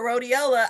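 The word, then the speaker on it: Rhodiola: I teach them about rodeiola, I make that thing because it's rhymes with Motorola.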